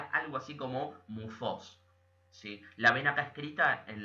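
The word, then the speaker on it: μῦθος: pronunciaría algo así como mufos sí la vena cascrita en la diapositiva que dice mitos la th se pronunciaría como Z y la y es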